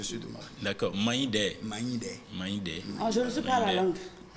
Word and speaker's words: Maïndé: C'est Maïndé. Maïndé, voilà. Maïndé. La prononciation est très importante.